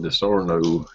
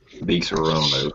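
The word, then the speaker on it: Disaronno: The token needs some DiSorno, however you pronounce it. DiSorno. All right. The token says, pass the DiSorono. I'm fresh out. DiSorono.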